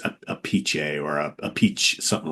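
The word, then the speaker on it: Appice: right Carmine made it changed the pronunciation to a piece because everybody you know kept screwing up pronunciation of his last name which I believe it's a a pich or a peach something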